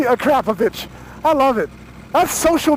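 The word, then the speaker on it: Akrapovič: And the other one was Akrapovic was what I always said. Yes. Oh, wow. And now you're pronouncing it correctly, Akrapovic.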